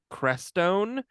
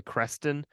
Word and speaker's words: Crestone: it's kind of pronoun it looks like it's pronounced crestone but I believe I I think it's actually cresten um I'm probably overthinking it